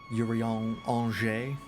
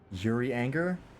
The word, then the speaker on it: Urianger: I don't know how to phonetically pronounce or phonetically spell Angers. Anjay, I guess. Angers. It's an exceptionally soft J. Anger. Yuri Anger.